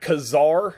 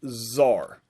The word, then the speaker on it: czar: it's spelled c-z-a-r like kazaar but it's pronounced zar so i got a